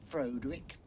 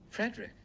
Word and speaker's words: Frederick: Castle Frankenstein you're putting me on no it's pronounced Frankenstein do you also say frck no Frederick well why isn't it Fredick Frankenstein it isn't